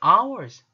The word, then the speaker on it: hour: H가 모음인 단어들을 한번 공부해 볼게요. 주로 H는 발음이 되지만 여기에서는 다 모음이에요.